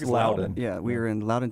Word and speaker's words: Loudon: with blackjack at symphony i don't know how to pronounce it loudoun loudon tennessee it's loudoun yeah we are in